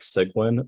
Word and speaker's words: Cygwin: to use a Linux Linux terminal emulator like sigwin which is spelled cygwin or MOBA X term which is